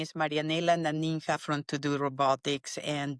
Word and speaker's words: Marianela: Brent my as I say my name is marianella ninha from to-do Robotics and there are a